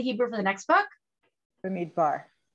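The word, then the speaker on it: במדבר: Bamidbar. Bamidbar or Bimidbar. There's Israelis who pronounce it Bimidbar. Most Americans say Bamidbar.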